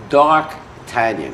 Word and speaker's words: d'Artagnan: this is for the world how would you pronounce it d'Artagnan doc do you say again door can be a dark dark tanyon yes dark canyon okay that's actually that's what